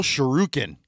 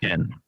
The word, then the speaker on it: shuriken: Mortal Sherukin. Did I I pronounced that right? Right. Cuz that's some Street Fighter. Shuriken.